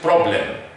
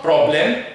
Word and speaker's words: problem: The correct pronunciation is, here, the final syllable has a schwa sound. So it's not problem, it's problem. Problem. It's not N, it's M.